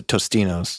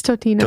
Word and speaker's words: Totino's: Is it Totino's or Tostinos? It's Totino's. Totino's pizza, yeah. But I'm pretty sure I always said Tostinos. Yeah. It's one of those words that we all mispronounce.